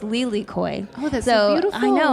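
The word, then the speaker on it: lilikoi: this one in Hawaii passion fruit um is pronounced Lely Koy oh that's beautiful I know I kept seeing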